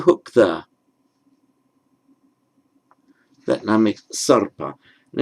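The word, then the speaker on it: सर्प: That now makes sarpa. And it's a bit counterintuitive because it looks as if it's following the p. But where you get that hooked r there, that always is pronounced first.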